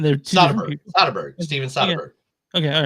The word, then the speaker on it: Soderbergh: Steven Soderbergh.